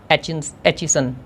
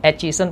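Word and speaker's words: Aitchison: तो developed by जिन एचिसन, ठीक है, टी साइलेंट है इसमें, जिन एचिसन पढ़ेंगे, जिन एचिसन, ठीक है।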